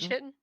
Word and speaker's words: chitin: ] knows even kitten I know it's chitin i bruise pronounce it chitin for years because the only place I had seen it was in Morrowind Skyrim